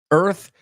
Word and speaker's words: Earth: Earth, lo que quiero que hagas cuando veas la palabra Earth, elimina la A en tu cabeza. Ahora es más fácil, ¿no?